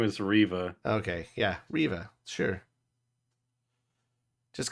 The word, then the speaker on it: Reva: will when Revit gets added to the game Revan no Reva Riva Arriva Riva is that all you said her name say her name her name is Riva okay yeah Riva sure just because I remember